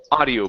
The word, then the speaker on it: audio: instead of owl okay we don't need to pronounce the O the O is silent okay so instead of ow it's only ah adi audio a deal